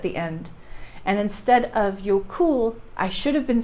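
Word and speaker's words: Jökull: Jokul. Jokul. Over there, kind of on the side of your teeth. Jokul. Anyway, that's your Icelandic pronunciation for the day.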